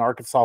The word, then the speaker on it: Arkansas: interesting and next up and I know it's pronounced Arkansas but our favorite way to say it is